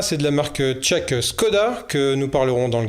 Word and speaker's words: Škoda: Alors Škoda, ça se prononce Škoda, puisqu'il y a un caron sur le S.